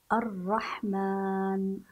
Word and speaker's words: الرحمن: بهذه الطريقه الرحمن نسمع الف ولكننا لا نجدها اثناء القراءه ذلك ذلك ذلك ذلك هذا هو نطقها بهذا الشكل الله اذا اذا اذا لكن الرحمن ذلك لكن في الحقيقه كيف هي كتابتها كتابتها الصحيحه بهذا الشكل تحذف هذه الالفات هذه الالفات غير موجوده اثناء الكتابه وان كانت موجوده اثناء النطق سنقول الله الى الى